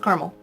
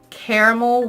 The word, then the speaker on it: caramel: brownies and anything with caramel and I said caramel because some of my friends say that I say caramel weird I say caramel I know that that's